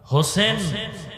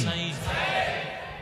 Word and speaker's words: হোসাইন: রসূলের কলিজার টুকরা ইমাম হোসাইন রাদিয়াল্লাহু তাআলা আনহু হোসেন না হোসাইন? নাই। আমাদের দুঃখ যে অনেক মানুষ নামটাও সুন্দর করে উচ্চারণ করে না। ঠিক। হোসেন না হোসাইন? হোসাইন।